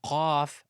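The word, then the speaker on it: قاف: The 22nd letter is Kaaf, as if you're saying kilogram or calf. Calf is pronounced from the back of the tongue, but actually closer to the mouth, opposite of the Qauf articulation point. Calf, Qauf, Qauf, calf, calf, Qauf. Now, there is a difference between calf and Qauf, so you need to be careful with the mouth open in Qauf.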